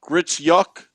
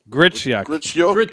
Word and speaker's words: Gritsyuk: It's pronounced Gritsyuk. Gritsyuk. Yeah. All right. Yeah. Okay. Gritsyuk.